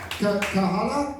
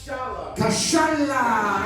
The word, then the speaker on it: Kashala: How do you say your surname, sir? Kahala? Kashala!